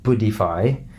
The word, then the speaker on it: Buddhify: Go on the App Store and get yourself Headspace or Buddhify, and that's spelled like Buddha except Buddhify, as in IFY, yeah, Buddhify, check these apps out because they guide you through meditation.